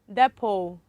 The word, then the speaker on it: depot: Then the last one, depot.